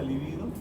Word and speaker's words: libido: ¿Alguien sabe qué es la libido?